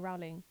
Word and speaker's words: Rowling: round have you ever have you ever heard her saying your name wait let me just let me just do a quick google search before i get annihilated yeah see see what she rhymes it with bowling yeah but it's not